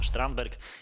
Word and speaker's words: Carlos Strandberg: zawodnik który nazywa się Carlos strandberg czy też sztramberk Jak wymawia się go na ogół w Szwecji sweter ale nazywane szwedzkim